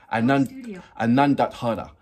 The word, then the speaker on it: Anondodhara: Anondodhara. So Anondodhara is aka Fountain of Joy.